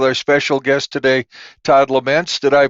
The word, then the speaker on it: Lemense: Podcast continues with our special guest today Todd lament did I pronounce that right perfect pronunciation David all right